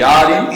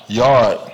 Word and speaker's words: yaad: Yard. Yard. Yard. Yard. Yard. Wrong? I can't. No, because you can't pronounce the R. It's like two A's and an H.